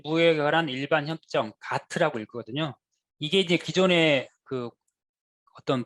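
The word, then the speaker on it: GATT: 다음은 관세 및 무역에 관한 일반 협정, 가트라고 읽거든요.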